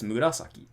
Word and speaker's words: murasaki: And it just happens to only have the accent on the second syllable, right? It's murasaki.